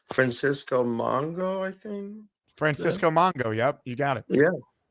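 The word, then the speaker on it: Mpemba: It's hard to pronounce. Francisco Mongo, I think. Francisco Mongo.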